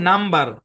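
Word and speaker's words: number: মনোযোগ দিয়ে খেয়াল করেন এই শব্দের উচ্চারণ হচ্ছে নাম্বার নাম্বার হ্যাঁ নাম্বার খেয়াল করে দেখেন এখানেও কিন্তু এমবি একসাথে আছে কিন্তু বি কিন্তু সাইলেন্ট হচ্ছে না কেন হচ্ছে না কারণ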